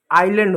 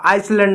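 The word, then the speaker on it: island: H silent होता है। Honest अब देखो आइसलैंड आइलैंड नहीं होता है। आइलैंड होता है। आइसलैंड नहीं होता।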